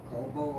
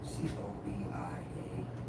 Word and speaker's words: cobia: I'd probably say it wrong. It's really offshore. It's a damn C-O-B-I-A. Cobia. Yeah, cobia.